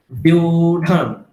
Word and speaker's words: व्यूढं: আপনি শুধু এটুকু বলুন, বি আর উ কে একসঙ্গে বলে দিন, বি আর উ কে, বিউঢম, বিউঢম। বলুন।